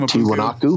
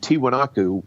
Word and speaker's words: Tiwanaku: He was in that area, and that he visited, I got to pronounce this right, Tiwanaku.